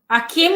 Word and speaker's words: Akim: Akim A K I M. Yes.